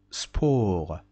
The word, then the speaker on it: sport: Sport. Sport. T is not pronounced at the end of the word, so sport.